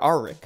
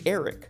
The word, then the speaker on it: Erryk: As she speaks to a knight of the Kingsguard, she mistakenly calls them Sir Arryk before he corrects her that it's actually Erryk.